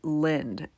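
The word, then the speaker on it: Lynd: to attend a party this party is in Lind it's a town it's spelled l-y-n-d and it's pretty close to his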